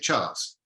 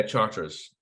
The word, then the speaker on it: Charters: How do you say it? Is it Charts? Yeah, Charters. Charters. He wrote a very good